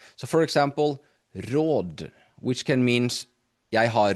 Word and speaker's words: råd: So here you will see that we will need to say råd, or else it sounds for advice, or else it sounds like we say raw, right?